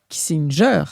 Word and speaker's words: Kissinger: et du fait que Henry Henry kinger puisque c'est bien ainsi qu'il faut le prononcer euh au fond avait